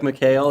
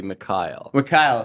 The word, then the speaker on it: Mikhail: Although it reads like Mikhail, it's actually Mikhail.